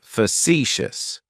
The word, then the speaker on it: facetious: Facetious has 3 syllables, and the stress is on that second syllable. It's like you're just saying the letter C for C. That first syllable has that sha sound, facetious.